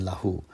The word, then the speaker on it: lahu: on the word lahu notice how short the llama is in lahu it is very very short and meanwhile the llama